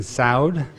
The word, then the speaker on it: Saud: Judge Saud it rhymes with loud.